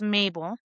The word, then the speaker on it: Mabel: So my mom in Spanish, it's Mabel. And then the way it was spelled Mabe, then it's pronounced Mabel, right?